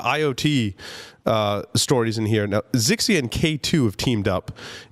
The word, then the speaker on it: Ixia: I always say Zixia when I see that for some reason. It's I've always heard it referred to as Ixia. It is Ixia. You are correct. I am wrong in my pronunciation, as usual.